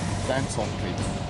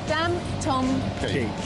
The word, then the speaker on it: Dantomkia: Dantomkia. Dantomkia. Daniel Thomas Kira, my three children.